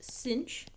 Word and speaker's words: sinh: The hyperbolic sine function, which is written as sine with an extra h, and this is pronounced “cinch.”